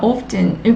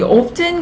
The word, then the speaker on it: often: 그리고 여러분 이 often 같은 경우 그 문화권 나라에 따라서 발음하는 방식이 좀 차이가 있더라고요. 어느 나라에서는 often으로 발음을 하기도 하고 어느 나라에서는 often으로 발음을 하기도 해요.